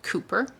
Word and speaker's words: Cowper: William Cowper, which is pronounced Cooper, born 1731, died 1800, was an English poet and Anglican hymn writer. One of the most popular poets of the time, Cooper changed the direction of